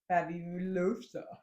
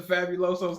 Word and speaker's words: Fabuloso: I use either Pine Sol or Fabuloso. Wow, have you read the bottle before? What is it? Is that the Fabuloso's cousin?